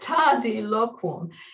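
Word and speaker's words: tardiloquum: In Latin, and particularly in Latin poetry, the length of syllables is key. It's the most significant factor about Latin poetry. And so here, Seneca has coined a word with 4 long syllables together, which you literally can't say quickly. It's a word that you have to say slowly.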